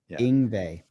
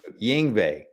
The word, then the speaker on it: Yngwie: The same way he feels every time I try to pronounce Malmsteen's first name. Yeah. Yngwie. Yngwie. Yng. Yng. Yngwie.